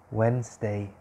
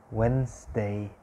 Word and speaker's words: Wednesday: and you pronounce it wednesday w-e-n when and then the e silent so no e when s day wednesday wednesday so the d and the second e is silent you don't pronounce it you write it when